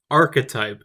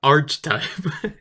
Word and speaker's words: archetype: It's pronounced archetype, Eric. Which fairy tale archetype? Not archetype.